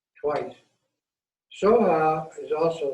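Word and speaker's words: स्वाहा: Raksha is spelled R-A-K-S-H-A, R-A-K-S-H-A. So it's twice. Soha is also Svaha in Tibetan, which means always increasing, always developing,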